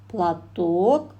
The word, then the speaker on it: платок: Носовой, ударение падает на О, платок, ударение падает на О.